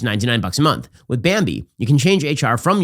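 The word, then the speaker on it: Bambee: an average of 70 000 bucks a year bambi it's spelled b-a-m-e-e it was created specifically for small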